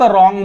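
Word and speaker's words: wrong: इथे N silent आहे इथे डब्ल्यू सायलेंट आहे फक्त रॉंग म्हणतो सॉल्ड म्हणतो सॉल्ड म्हणतो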